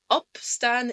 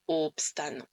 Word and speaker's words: opstaan: Dans la première partie, on a une syllabe fermée. La voyelle n'est écrite qu'une seule fois. Et donc une voyelle qui n'est pas doublée est un son court dans une syllabe fermée. Et c'est pour ça qu'on dit opstaan et pas opstaan.